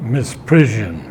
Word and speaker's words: misprision: Misprision. Yeah, it's pronounced misprision, Z, okay?